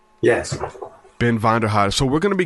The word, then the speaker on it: Vonderheide: Ben Vonderheide.